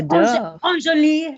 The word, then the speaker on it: Anjali: So it's Anjali, like the stinky perfume from the 80s.